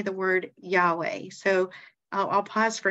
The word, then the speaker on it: Yahweh: we say the word Yahweh so I I'll pause for a second say it like yah is in way I mean you say